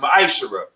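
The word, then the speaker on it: מעשר: Means 10th in Hebrew and is pronounced ma'ashara.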